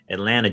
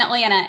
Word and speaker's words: Atlanta: i'll try with georgia atlanta georgia right you did good because you didn't say you didn't say the second t in atlanta and so that's like how you know you're saying it right at least you know